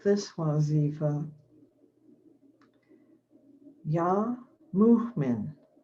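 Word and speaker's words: Mu'min: like this wazifa yah muhman that's spelled mu apostrophe for the glottal stop m-i-n yah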